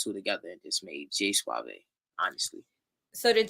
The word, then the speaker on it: J Suave: It was J Suave, J Suave to be exact, but people pronounce it as J Suave.